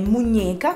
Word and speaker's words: muñeca: La ñ con la E è muñeca, come nella parola bambola o polso, ñeca, muñeca.